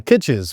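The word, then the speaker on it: Kitces: How do you pronounce this gentleman's name again? Kitches. Michael Kitches.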